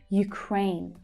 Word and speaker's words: Ukraine: Ukraine. Again, we have that U pronunciation. Ukraine. The second syllable is the stressed one. Crane. It's the A as in day vowel sound.